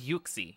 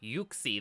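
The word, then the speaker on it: Uxie: it yuxy okay so it is it is yuksi yuksi that is the official pronunciation thank you for checking that for us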